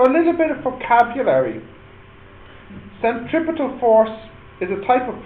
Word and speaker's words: centripetal: called the centripetal force centripetal or I suppose you could pronounce this centripedal that's okay too CED is this easier